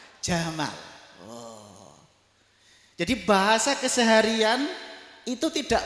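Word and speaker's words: جمال: Makanya presidennya dulu ada yang bernama Gamal Abdul Nasir. Itu aslinya Jamal.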